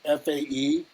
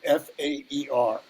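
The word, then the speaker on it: fae: and are pronounced with an f sound replacing the the th sound and they them.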